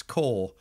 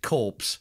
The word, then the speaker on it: corps: twenty minutes and and I couldn't pronounce core so I pronounced it corpse fitting in there yes